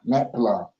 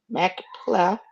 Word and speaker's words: Machpelah: How do you pronounce that word? Machpelah. Machpelah, which he hath, which is in the end of his field.